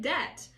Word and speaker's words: debt: doubt the fatality yeah it's like debt when you have a t after the B the B is silent okay so it will